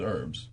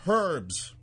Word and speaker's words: herbs: It's even as far as, like, I pronounce herbs as herbs. Right. When you're dealing with Australians, because it was an Australian-based ship. Right. This one lady yelled out at a seminar, "It's pronounced herbs."